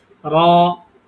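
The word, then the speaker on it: ر: করে হ্যা হ্যা এমনিতে যেমন আমরা বাংলায় র বলি এটাই শুধুকে একটু মোটা করে বলতে হবে এই ঠিক আছে এ বাইরে তেমন কোন কিছু নাই র র র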